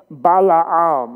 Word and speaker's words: Balaam: rest of the time, but let's just say Balaam, okay? Bala and then Am, okay? Ready? One, two, three, Balaam.